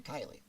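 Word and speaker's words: Kiley: very much on here my name is actually kylie and it's about k-i-l-e-y and it is not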